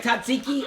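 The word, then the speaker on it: Tzatziki: All right, Tatziki, or I guess you're not supposed to pronounce the T.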